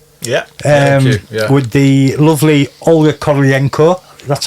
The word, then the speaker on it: Kurylenko: With the lovely Olga Kurylenko. That's how you say it, isn't it? Olga Kurylenko, yeah.